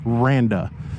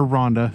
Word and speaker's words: Randa: And I do want to give a shout out, and I know I kept saying her name wrong in my last video. The marketing director here is Randa. I kept calling her Rhonda, so my bad.